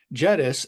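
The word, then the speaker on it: Jedis: using the jettus client library jettus and that is how it's pronounced you don't get a lightsaber with this jettus like many of the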